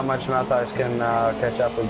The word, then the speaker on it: Matthijs: So is it pronounced Matthijs? Yeah, Matthijs. Yeah, Matthijs. Matthijs. Oh, okay. So it's either way.